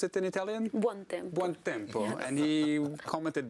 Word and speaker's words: Buontempo: Is that how you pronounce it in Italian? Buontempo.